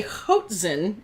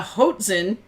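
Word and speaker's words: hoatzin: person i know h-o-a-t-z-i-n it's haute like coat haute yeah like z-i-n yeah hudson is it a bird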